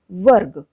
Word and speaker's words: वर्ग: लगा हुआ होता है, और रेफ र का उच्चारण उस व्यंजन से पहले होता है जिसके ऊपर यह लगा हुआ होता है। तो देखते हैं हम कुछ उदाहरण, जैसे वर्ग।